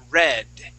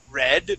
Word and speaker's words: read: sound different so the past simple would be pronounced red with a short e and past participle would be red with a short e as well yeah okay now let's